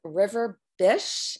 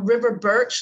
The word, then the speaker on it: River Birch: She founded a practice that's in Raleigh now, and it's called River Bish. Is that how you pronounce it? No, it's River Birch, like the tree.